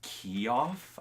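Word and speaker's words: Keough: her last name Riley key off I want to say key off actresses yeah so it's spelled ke o ugh no idea so she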